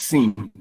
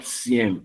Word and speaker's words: SIEM: if you look at this part here now, they talk about simulating this SIEM, SIEM, is pronounced SIEM, not CM, all right?